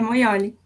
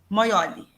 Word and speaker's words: Moioli: É assim mesmo que fala? É Moioli. Moioli.